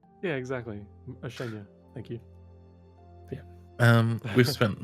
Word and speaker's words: Oceania: I cannot let that one slide because you guys ride me so hard for getting things mispronounced. Yeah. Yes, Mr. Oceana. Yeah, exactly. Oceania.